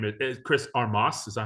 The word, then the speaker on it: Armas: a new coach um his name is Chris armas is that how you say it Chris armis armis it was just armis okay um so so what does he bring